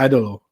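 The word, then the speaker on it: Ídolo: It's probably Idolo, right? It's probably Idolo. Yeah. Andrade El Idolo. We're gonna learn how to say it. Jim Ross watched it too. He called it Igolo or something.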